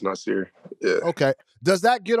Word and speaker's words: Nassir: um if you like casually people say nasir which is cool as well but formally it's pronounced nicer yeah okay does that